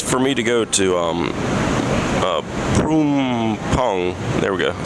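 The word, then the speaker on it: Phrom Phong: like 17, because for me to go to Prumpong, there we go, I said it right, Prumpong,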